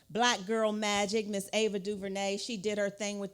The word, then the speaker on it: DuVernay: It's Duvernay. You have to say it like this, Duvernay.